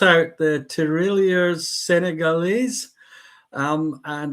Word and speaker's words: tirailleurs: Now, uh super super John, so super yellow, has spelled out the tirailleurs sénégalais. Um and it's not trailers.